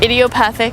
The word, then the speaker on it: idiopathic: Idiopathic? Idiopathic. Like an idiot. Okay, idiopathic. Angioedema.